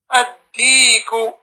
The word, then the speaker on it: الديك: Ad-diku. الديك So starting from at-tajiru, these at-tajiru, al-thawbu, ad-diku, these are all huruf shamsiyya.